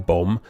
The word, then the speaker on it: bomb: We get a silent A in critically, a silent B in bomb, a silent C in